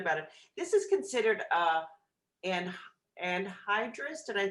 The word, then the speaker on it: anhydrous: This is considered anhydrous. Did I pronounce that correctly, Bill?